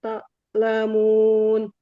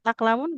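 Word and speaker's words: تعلمون: Wa antasaddaqu khairul lakum in kuntum ta'lamun. In kuntum ta'lamun. Ulangi saja. Khairul lakum in kuntum ta'lamun. Nah, nggak boleh taklamun. Gimana Ibu bacanya? Ta'lamun. Huruf ain di tengah tenggorokan.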